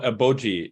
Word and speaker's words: 아버지: Well, eboji is how you say. Eboji.